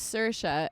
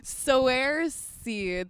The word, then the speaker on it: Saoirse: name is Saoirse, and then they picked it up.